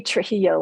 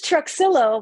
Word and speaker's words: Truxillo: Spanish so my husband it used to be Trujillo which is how sometimes a lot of times that's how people pronounce it my husband's family tricked me see